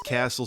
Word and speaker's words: castle: guru also why is Castle spelled with a t castle Yeah Castle you don't say the T it's like Matt Castle